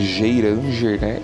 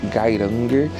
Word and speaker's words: Geiranger: pesquisou muito sobre ele, se escreve Geiranger em português, mas eles falam Geiranger na Noruega, como eu falei, e é um lugar simplesmente único.